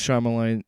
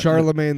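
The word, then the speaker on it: Charlamagne: That's Charmine. Uh, I think it's Charmine the God. I don't pronounce Charlemagne the God. Charlemagne. Charlemagne. There it is.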